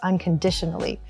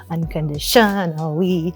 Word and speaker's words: unconditionally: So most people don't notice this, but when songs put the emphasis on the wrong syllable of a word, I notice and I can't stand it. Like, if the word is unconditionally, that dish is the emphasis, unconditionally. But some songwriters will say unconditionally, and I hate that.